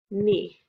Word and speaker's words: knee: for this week so when we see k n k is silent we use the n sound vowel sound the word is knee ah the word is